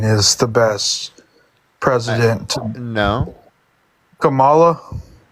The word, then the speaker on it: Kamala: you believe Biden is the best president no Kamala Kamala okay how do you say again if you